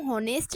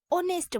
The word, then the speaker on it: honest: इसको हम होनेस्ट नहीं बोलते हैं, बहुत से लोग जो है इसको होनेस्ट बोलते हैं, बट ये गलत है। हम इसको एच जो है वो साइलेंट रहता है और इसको हम ऑनेस्ट बोलते हैं।